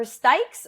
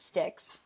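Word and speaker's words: Jimmy Styks: Yeah, it was a Jimmy Sticks or Stikes. I hear people say it like both ways, so I've never actually known the name of this brand. But it was a Jimmy. I'm pretty sure it's Sticks.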